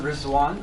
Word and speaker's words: Rizwan: Uh, so my name is Rizwan.